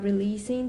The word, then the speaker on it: releasing: Releasing. Yeah, don't make it releasing. It's what I was just talking about. So it's an S. Don't make it a Z, whatever you do. And it's not long.